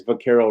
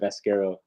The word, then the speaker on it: Vaquero: I love how Dan says Vaquero wrong every time. He calls it Vasquero.